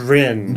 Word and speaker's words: Bryn: I was going to say Brian, but it's not Brian. It's Bryn. Bryn. Which in Welsh means road. For Bryn Terfel?